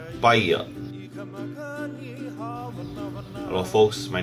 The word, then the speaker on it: paia: He paia, yeah, a wall. Repeat after me. Paia.